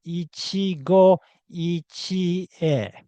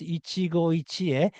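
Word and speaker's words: 一期一会: First of all, why do you need to understand the foreign culture correctly? Because, while English speakers might simply mispronounce Ichigo Ichie as Ichigo Ichi, I've noticed that Japanese expressions and customs are often misused.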